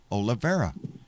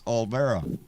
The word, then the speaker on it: Olvera: Because I always say Olivera. It's not Ole because there's no I. It's Olvera.